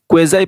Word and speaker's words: quasi: क्वेज़ाई passive voice या फिर क्वाज़ी passive voice, दोनों प्रोनाउंसिएशन करेक्ट है।